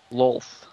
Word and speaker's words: Lolth: What's the correct way? Lolth. Lolth. Okay. More O.